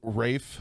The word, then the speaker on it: Ralph: wrong but we're not saying that i'm saying rafe finds says his name is rafe his [